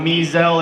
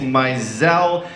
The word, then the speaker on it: Mizell: name is Mizell it's not me Zell it's not missile it's not measles it's not muscles it's not the measles like the disease it's Mizell and and I'll be